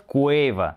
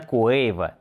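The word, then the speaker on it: Quavo: У меня был целый год, чтобы научиться правильно произносить его имя. И за этот год Куэйва, да, именно Куэйва, также не терял время даром.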